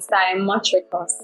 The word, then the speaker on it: cymotrichous: And I'm going to say Cymotricus. Cymotricus. That's No. your time? No. I'd say Simotricus. Simotricus. That's Yes. your final answer. Yes. Okay. No, it is actually Simotricus.